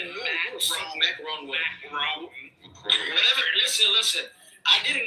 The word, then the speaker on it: Macron: Macron. That's how you pronounce it.